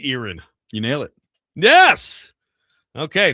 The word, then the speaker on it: Erin: Um All right, I'll say Erin. You nailed it. Yes. Okay, not Aaron.